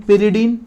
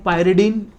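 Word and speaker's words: pyridine: अब इन the presence of, यहाँ पे हम लेते हैं पिरिडीन या कहीं लोग उसको पायरिडीन, अलग अलग प्रोनाउंसिएशन है सभी लोगों का, पिरिडीन और पायरिडीन।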